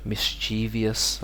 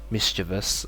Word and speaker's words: mischievous: okay so this one you'll hear like um mischievious a lot from people misch mischievous I don't know but correct would be mischievous or mischievous so we don't say the Chivas or Chivas only Chivas or Chas yeah okay here we have